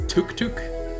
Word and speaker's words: tuk-tuk: like taxis i guess are called tuk-tuks but i think it's took took it's pronounced tuk-tuk the character is tutu